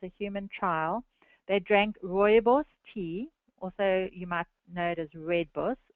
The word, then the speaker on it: rooibos: human trial they drank rooibos tea also you might notice Red Bus red bush and I'll pronounce that Afrikaans pronunciation for you it's Roy boss Roy boss so they drank this